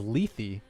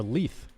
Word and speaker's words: Lethe: But the name is pronounced Lethe. I thought it was Lethe or Leith, but he's saying Lily.